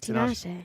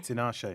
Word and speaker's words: Tinashe: Am I pronouncing your name right? Yes, Tinashe. Tinashe.